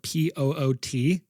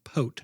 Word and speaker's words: Poot: last name was spelled p o o t. It's It should be poot. Yeah, it should be be poot. Uh-huh. But he said it's pronounced pote.